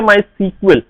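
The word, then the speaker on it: MySQL: इसको प्रोनाउंस किया जाता है माई सीक्वल, ठीक है जी।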